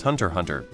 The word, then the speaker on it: Hunter x Hunter: x Hunter it's pronounced Hunter Hunter spy X family is also pronounced as spy family so am assuming in Japanese media naming the x is silent I variously heard read